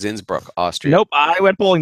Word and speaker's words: Innsbruck: with Austria Innsbruck that's not a Brunswick it's Innsbruck Austria nope I went bowling today it's in